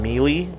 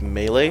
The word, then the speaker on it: melee: Super Smash Brothers and pronounce the second game melee drives me up the wall. It's melee, and they even say it in the game. That's a real word. It's not one they made up.